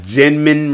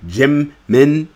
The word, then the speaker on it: Jimin: Just like I got Jinmin wrong. At first I called him Jinmin. Now I say Jimin, and now I got